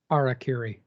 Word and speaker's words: harakiri: And then it talks about harikari here or harakari. I can't pronounce that. Harakiri.